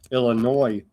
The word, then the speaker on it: Illinois: It premiered in Chicago, Illinois with no S. The S is silent.